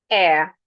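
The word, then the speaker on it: heir: Air. The H is silent.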